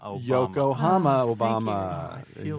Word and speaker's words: Yokohama: Well, it rhymes with Obama.